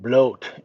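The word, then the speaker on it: Blót: It is pronounced bloat and it is a celebration of the gods and goddesses.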